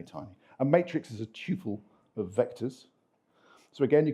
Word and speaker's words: tuple: it has one p i pronounce it Tuple I am English it is the right way you can perform addition